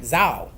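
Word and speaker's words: Zhao: is Wu Zo Zo Z H A O I hope I pronounce it right Zho.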